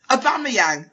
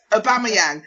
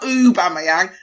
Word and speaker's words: Aubameyang: Aubameyang. Amanda, it's Aubameyang. Not Aubameyang. Not Aubameyang. Aubameyang. Easy.